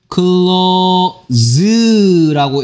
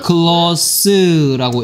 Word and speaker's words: close: 이 친구를 클로즈라고 읽으면 즈라고 읽으면 그거는 뭔 뜻이다? 닫다란 뜻이고요. 얘를 클로스라고 읽으면 가까운 이란 뜻입니다.